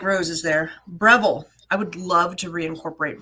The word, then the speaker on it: Breville: I've always said Breville, and then you said Breville, and it makes me wonder, how I've do you say never it? heard Breville. Oh, so see, it's me that's wrong. Breville is how you say it.